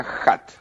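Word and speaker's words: khat: Se pronuncia HAT con J. Hat. KH es JA, como Khomeini, que se escribe KH, ¿sí?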